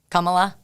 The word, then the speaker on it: Kamala: it's it's it's pronounced Kamala Kamala Kamala like I've never known it's not Kamala it's Kamala Kamala like a comma um she announced her